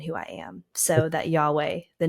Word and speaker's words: Yahweh: Hebrew word for God when you say yahwe and pronounce it how it's properly pronounced it actually mimics a breath so when you're saying the the name of God Yahweh you're actually mimicking a breath so I I kind